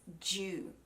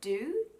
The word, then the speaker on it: dew: a J, and it's dew. So the grass in the morning will be dewy, or I have a paper that's due tomorrow. So it's not do, it's J, dew, okay?